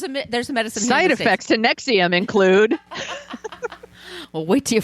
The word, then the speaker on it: NXIVM: prayed on them later they changed the name to Nexium and it's spelled NX I VM all capitals it's not nexum like the heart medicine the heart you the